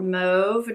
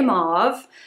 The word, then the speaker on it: mauve: Ofra Mob lip liner or move depending on how you say it I say mauve and at first I